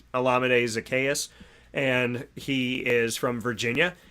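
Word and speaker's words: Olamide Zaccheaus: college that is how you say his name olamide zacchaeus and he is from virginia so i would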